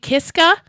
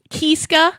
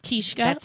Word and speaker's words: Kiszka: Is it Kiska? Kishka. Kiska is just the regular American pronunciation. Okay. Um, Kishka is You'll heard Polish people say Kishka. Kishka. What do you prefer? It's just Kishka to me.